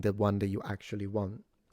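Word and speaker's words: は: you from picking the one that you actually want. In Japanese, for instance, there is a particle pronounced wa wa Yeah.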